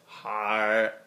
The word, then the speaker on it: Haereid: Two S's, Haereid, H-A-R-R, or you could say H-A-E is a diphthong, R-R-E-I-D, it's pronounced Haereid.